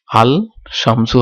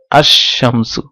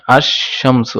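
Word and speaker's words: الشمسُ: আর যখন শামসের সাথে, শামসুনের সাথে আল যুক্ত করব তখন এটার উচ্চারণ কি হবে, আল শামসু হবে না, এটা হচ্ছে আশ শামসু। লাম এটা উচ্চারণ হবে না, আশ শামসু।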